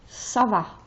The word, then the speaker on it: ça va: And then the CD softens the C. If the C doesn't have a CD, this would be K. But because of the CD, it's Sa. Ça va.